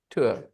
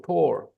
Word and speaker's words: tour: Just like poor, P-O-O-R, poor, tour. They're rhyming words, guys. Okay. They're both rhyming words.